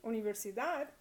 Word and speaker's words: universidad: And so that follows the second rule, which is that all words that end in a consonant other than N or S are stressed naturally on the last syllable.